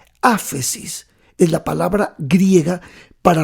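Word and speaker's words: ἄφεσις: es una palabra griega que es que se pronuncia así afe sis afe sis es la palabra griega para remisión y significar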